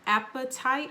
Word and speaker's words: apatite: cards is called an apatite. I think that's how you pronounce it, almost like appetite, hunger, but spelled a little bit differently.